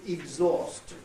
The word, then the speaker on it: exhaust: includes educated Northern pronunciation, will not say exhaust with vowel number 2 or number 12, the exhaust, but he'll say exhaust, exhaust. And he'll actually even move the stress to the first syllable, so the exhaust of a motor car.